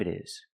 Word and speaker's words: it is: I wonder what time it is. Remember pronunciation. It is change the T to a fast D. It is It is.